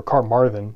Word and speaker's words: Carmarthen: This figure of Leilocan later merges with the name Myrddin, which seems to come from the Welsh city of Carmyrddin, or Carmarthen, as it's pronounced today, and seems to be